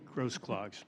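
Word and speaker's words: Grosklags: Um, Admiral Miller and um this is something that Admiral Grass Clags, am I pronouncing your name correctly? Close enough. Sorry. Gross clogs. Gross clocks.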